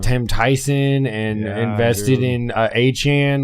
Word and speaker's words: Etienne: He now pronounces it Achan. To make it even more confusing. Etienne. Even though Etienne. It's definitely not Achan. That's just so dumb. Etienne. Yeah. Soda. Because it's a French pronunciation.